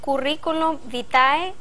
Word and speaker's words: currículum vitae: suenan pero gramaticalmente son totalmente correctas se dice currículum vitae o currículum vitae como lo tienen en su